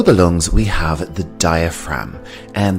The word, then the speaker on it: diaphragm: And below the lungs we have the diaphragm, and the G here is silent.